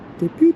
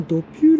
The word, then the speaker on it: Depew: ュー駅に、デピューっていうかな、発音はドピューらしいですけどね、そう言ってる人が多かったですね。